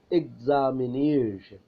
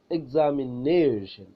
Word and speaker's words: examination: Words ending in ION have the stresses on the syllable before the final syllable. when the words are ending in ION, the syllable before the final syllable is stressed.